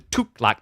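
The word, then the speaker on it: Tughlaq: And we have got the Tuklak Dynasty.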